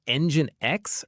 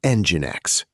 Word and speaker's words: Nginx: Saying Engine X feels really wrong even though it's the official pronunciation. I go with Engine X.